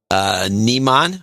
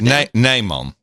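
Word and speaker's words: Nijman: Nymon. Nymon. IJ is Nymon. It's pronounced. Well, so a little lesson. In Dutch, we have the lange ei and the korte ei. So the long ei is IJ, Nymon, and the korte ei is IE.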